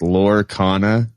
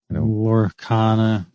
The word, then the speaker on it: Lorcana: It's I guess it's pronounced Lorcana, like Arcana and lore mixed together. Lorcana.